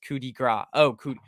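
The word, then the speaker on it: coup de grâce: the good old C Coupe de grass Grace pronounced Cudi gr oh c and the end the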